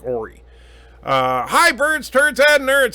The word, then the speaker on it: Ori: Ori is pronounced Ori, sorry.